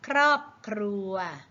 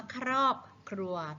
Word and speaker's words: ครอบครัว: อาหาร พบ กับ รอบครัว คำ ว่า ครอบครัว เป็น คำ ควบ กล้ำ แท้ หรือ ไม่ แชะ แท้ ค่ะ เพราะ ว่า ออก เสียง ครป ทั้ง 2 ตัว ไม่ ใช่ ออก เสียง ตัว ใด ตัว หนึ่ง นะ คะ ต่อ ไป